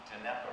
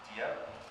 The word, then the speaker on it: Dieppe: This is the Dnieper raid. Am I pronouncing that right? Dieppe? Okay. The Dieppe raid, or Operation Jubilee.